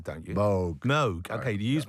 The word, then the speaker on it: Moog: is it how do you pronounce it's not moo you pronounce it mug don't you MOG MOG okay do you use moges yes like